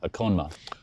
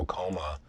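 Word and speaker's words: Okonma: surname more which is i believe if i pronounce it right it's a konma a coma okay so it's like and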